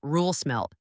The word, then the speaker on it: Roel Smelt: This week, Roel Smelt, pronounced Roel Smelt, published an essay that could change how you think about the future of energy in Europe.